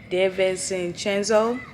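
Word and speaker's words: DiVincenzo: his his last name my sister said it sounded so crazy I'm like that that that cannot be how you pronounce it but that's how you pronounce it de chenzo I said that [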